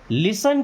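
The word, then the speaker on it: listen: Okay, लिसन carefully. दोस्तों, यहाँ पे देखिए टी साइलेंट है। जब भी कहीं TEN लिखा मिल जाए ना, समझिए कि टी साइलेंट होगा।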